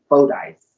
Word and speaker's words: Fordyce: Arkansas called Fordyce and that she said is pronounced but literate faux dice she has a big personality she's an activist